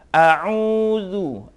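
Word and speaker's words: أعوذ: Alif dengan ain ya. A'udzu, Nah, coba diucapkan setiap saat. Ucapkan a dengan u. Ain, jadi a pertama alif, kedua ain.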